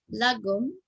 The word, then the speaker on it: lagom: And there was another article that said 3 ways the Swedish concept of lagom will revolutionize your creative agency, and lagom indicates the importance of balance among a group or team.